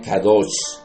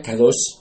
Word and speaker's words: Kadosh: Estas no necesariamente fueron las palabras del Señor Jesucristo, pero podemos mirarlo, por ejemplo, en la Biblia Kadosh. Se escribe con K-A de amor, D de dedo, O de oso, S de saco y H.